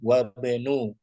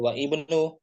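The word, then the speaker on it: وَابْنُ: Hanya ditulis saja tapi pengucapannya jangan dibaca wa ismu, jangan ya. Oh, wasmu. Langsung wasmu, wa benu. Jangan wa ibnu, wa benu langsung.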